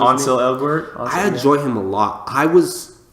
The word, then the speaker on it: Ansel Elgort: Because, look, I actually enjoy Elson Elgort, is that how you say his name? Ansel Elgort.